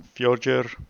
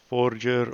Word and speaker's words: Fjordur: of my base on future or forger or however you prefer to call it I will call it future that makes sense to me but it might as well be the wrong pronunciation so I've settled here